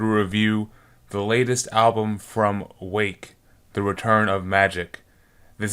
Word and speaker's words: Rwake: albums since 1999 is Rwake. Spelt R-W-A-K-E, pronounced Wake.